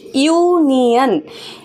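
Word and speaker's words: union: अब यहाँ पे यू हमारा वावल है ऑब्वियसली, लेकिन यू का जो प्रोनाउंसिएशन हो रहा है वो कैसा हो रहा है, यू, मतलब इसको अगर मैं लिखूँ तो ऐसा प्रोनाउंसिएशन हो रहा है, वाई यू, यू।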